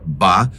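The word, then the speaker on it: 八: na cultura chinesa pois a sua pronúncia ba é semelhante à palavra riqueza ou Prosperidade que se diz fa devido a isso o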